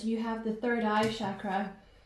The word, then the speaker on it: chakra: have the third eye chakra or chakra as some people pronounce it um so you're